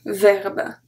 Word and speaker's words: verbe: If we were saying the E, we'll say un verbe, we don't say that. We say un verbe. It's just the last, the final pronunciation of the B that make it sound like we pronounce the E, but we don't.